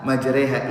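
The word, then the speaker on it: مجريها: Ya, tulisannya majroha. Tapi di sini ada imalah majreha.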